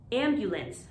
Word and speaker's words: ambulance: made a decision yet this next one is ambulance ambulance not ambulance ambulance ambulance the ambulance arrived in